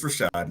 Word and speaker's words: Rashad: are you doing today Rashad please if that is not correct please let me know no no it's Rashad you're pronouncing yeah I did well